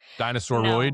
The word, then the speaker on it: dinosauroid: Dinosauroid. No, If you that's say it not. differently, if you say it like say humanoid, then say dinosauroid.